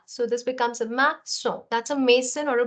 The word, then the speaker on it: maçon: So see, the thing is that this CA, there's no accent here. So you will pronounce it as ka. Okay, whereas when in this you put this accent below it, it becomes a sa.